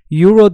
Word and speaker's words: Euro: okunduğu içine kelimesini alır mesela eouro diye yazılıyor arkadaşlar okunuşu ve yazılışı arasında fark var bunun e ile yazılıyor yani sesli harfle yazıyorum okurken y ile yani sessiz dokunuyor Euro diye okunuyor Dolayısıyla buna bir Euro